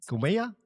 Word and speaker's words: Khumeia: Pero bueno, antes de eso, comentame un poco sobre tu emprendimiento, cumeya alquimia, no sé si lo digo bien. ¿Qué haces y y qué significa esa palabra? ¿Y cómo se dice? Cumea.